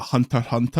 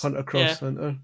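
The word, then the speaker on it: Hunter × Hunter: I think the anime people pronounce that Hunter Hunter. I don't think cross. You say the X for. You say cross. Cross. Hunter cross Hunter.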